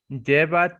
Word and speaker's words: lleva: Lleva tilde. No, that's a Y sound because there's two L's.